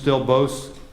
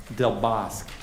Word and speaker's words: Del Bosque: Susan How is it, Del what is the proper pronunciation? Bosque. Del Bosque.